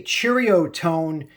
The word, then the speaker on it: Ceriatone: But if you say Cheerio tone, it just sounds like you're trying to speak like a Malaysian as a gringo, as a stupid American. And I'm not in that class, so I'm going to say it like another stupid American, Ceriatone.